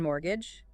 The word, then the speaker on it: mortgage: like a house and fun fact the tea in mortgage is silent it is I always